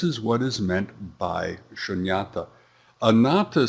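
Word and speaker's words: śūnyatā: The next term is shunyata. It's pronounced the same in both Pali and Sanskrit, just spelled a little differently.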